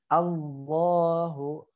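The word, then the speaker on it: الله: Maka jangan dibacanya Allah, O jadi O. Padahal alif fathah A. Jadi bacanya A.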